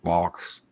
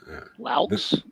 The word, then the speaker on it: Laux: And Colin, it's spelled Laux. Oh. Laux. Laux. Laux. Is the X silent? Wow. Yes, probably.